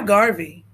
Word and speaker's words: Garvey: earphones and push play rhymes with Harvey some people wonder why Garvey why not Marcus so